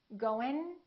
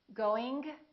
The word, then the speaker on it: going: The last way is the correct accent. The first 2 are not correct. Listen. Goin', going, going.